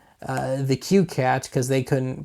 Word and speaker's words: CueCat: I call the qat now the actual spelling is well it's two ways it's either colon CU c a t or colon cue Colon c a t but I don't know how to pronounce a colon so we'll just call it the qat shall we anyway uh